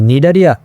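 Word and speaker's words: Cnidaria: তার মানেই নিডারিয়া দেখো নিডারিয়া যে বলতেছি নিডারিয়ারও কিন্তু সামনে সি আছে। সি নামটা সাইলেন্ট। সি উচ্চারণটা সাইলেন্ট আছে।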